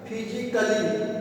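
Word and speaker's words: physically: यहां पे देखिए फिजिकली यहां पे सी के बाद ए के बाद डबल एल वाई है तो यहां पे ए साइलेंट हो जाएगा।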